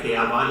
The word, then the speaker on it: خیابان: پہ جب ہم لفظ خیابان کی بات کرتے ہیں، فارسی میں زیر کے ساتھ اس کا تلفظ کرتے ہیں، اردو میں دونوں طرح رائج ہے کہ خیابان اور خیابان دونوں طرح سے اس